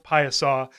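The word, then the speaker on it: Piasa: of history it's also got something called the pieasaw bird which is a little it's a Native American um like this weird Griffin Bird thing p-i-a-s-a it's pronounced payasa and it's carved into the side of a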